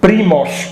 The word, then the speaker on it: Primož: The founder of Slovene nation, the first books published, is a guy called Primož Trubar. Trubar, family name, Primož with Z, with like Žižek.